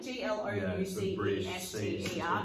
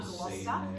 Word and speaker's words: Gloucester: But G-L-O-U-C-E-S-T-E-R, Gloucester. Like Leicester. Look up how Leicester is spelled.